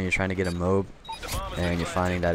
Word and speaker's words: MOAB: round for my first mob and yes I do pronounce it mob not Moab because first of all mob is one syllable shorter than Moab so I'm lazy I